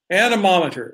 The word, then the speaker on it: anemometer: friend the ANA nominee that's kind of like pronouncing aluminum and a monitor anemometer like your mom or